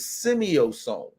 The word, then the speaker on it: semiosome: And the new word is right here in the title of the live right here is semiosome. Semiosome. 4 syllables.